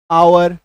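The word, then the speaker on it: hour: ध्यान दीजिएगा जैसे कि एच ओ यू आर आवर एच ओ एन ओ यू आर ऑनर उच्चारण देखिए इसका आवर उच्चारण देखिए एच के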